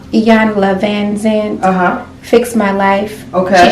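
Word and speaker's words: Iyanla Vanzant: Iyanla Van Zandt.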